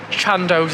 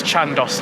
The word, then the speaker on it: Chandos: You thought it was Chandos like Nando's, and it's Chandos like Nandos.